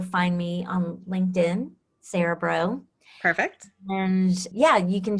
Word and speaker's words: Braud: my name pronounced so it's like the b r UD D yes translates as bro okay so it's French